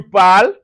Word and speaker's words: parles: Also, in the present tense, the first, second, and third person singular form are pronounced the same. Even though they are spelt differently, just say je parle, tu parles, il, elle parle. All sound alike.